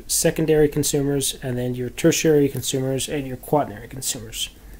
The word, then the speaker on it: tertiary: And then you have a tertiary, is how you pronounce this word, tertiary consumer.